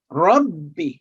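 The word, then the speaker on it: رَبِّ: For example, if we say Rabbi, would be wrong. Rabbi, Rabbi, Rabbi. So ba with tashdid is written twice, one with sukoon and the second with a muharrik.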